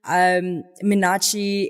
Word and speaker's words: Minachi: Minachi, yeah.